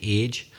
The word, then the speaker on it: age: Of the same word, because in Northern Ireland we pronounce it a particular way as well. We say age. Age. But according to the Oxford English Dictionary, it would be something like age. Yeah, the same sound as in my name.